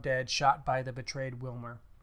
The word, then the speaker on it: Wilmer: Spade calls the cops, and they go after Gutman, who is found dead, shot by the betrayed Wilmer, who probably is pronounced Vilmer, but whatever.